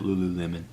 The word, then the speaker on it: Lululemon: outfits from Lululemon lose I guess I'm pronouncing it right the way it was written I was like lemon loo loo loo loo but I've heard people say it on like television shows and stuff and they all pronounce it Lululemon so like I said